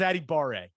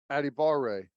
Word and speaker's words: Adebawore: that much attention but this is what the pronunciation guide said for his brother i think it was addie barrett addie barrett addy baray there we go nailed it that was it yes addy bar ray